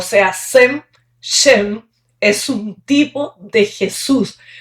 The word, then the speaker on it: Shem: Bueno, este sem que en en la escritura antigua se pronuncia s h e m shem, significa nombre.